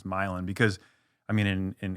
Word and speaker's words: Milan: uh which is I guess right but the the way my parents have always said it or the way it's really pronounced is milein because we're from easter like